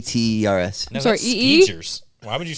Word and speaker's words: Skechers: Skechers.